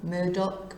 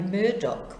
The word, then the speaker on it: Murdaugh: going to talk about Alex murder Murdock murder not quite sure how it's supposed to be pronounced over there in America uh I think it might be Murdoch we might say anyway sorry if